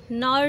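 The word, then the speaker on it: Knorr: बनवाई थी अपने लिए, नॉर नूडल्स, तो ये फिर थोड़े से नॉर होता है, के साइलेंट होता है, तो फिर हम अब ये इन्जॉय कर रहे हैं पार्टी इन्जॉय।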